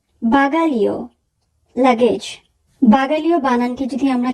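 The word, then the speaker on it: bagaglio: বাগালিও, বাগালিও, luggage. বাগালিও বানানটি যদি আমরা খেয়াল করি তাহলে আমরা দেখব GLE এই তিনটি বর্ণ মিলে উচ্চারণ হবে লি।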